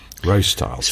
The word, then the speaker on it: Rostyle: rubery Owen style wheels so r o style and then they just shortened it to row style so you know pronunciation wise it should be Rose Styles it's funny I've heard